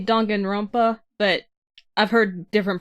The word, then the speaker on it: Danganronpa: Alyssa, Danganronpa S, Ultimate Summer Camp, PS4, PC, iOS, Android, July 21st. Did I pronounce that correctly? I usually say Danganronpa, but I've heard different pronunciations for this, so.